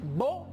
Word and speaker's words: beau: Alors, on a la EAU. Ça toujours se prononce comme O. Eso también se pronuncia como una O. Por lo tanto, je dis beau, je dis l'eau.